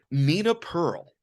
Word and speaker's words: Nina Pearl: Nina Pearl.